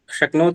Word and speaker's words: शक्नोति: एक, शकनोत में एक का उच्चारण है या दो का? एक शक्नोति, एक तो है। का क दो होगा, बलाघात होगा, शक्नोति।